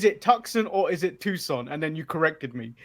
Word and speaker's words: Tucson: is the correct pronunciation it's toxin or Tucson Tucson Arizona Tucson Convention Center from Tucson Arizona where do you call it it's like toucan Hudson Tucson you didn't know your Tucson man